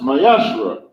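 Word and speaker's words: מעשר: verse 8 through 10 means 10th in Hebrew and it's pronounced mayashra ten percent of every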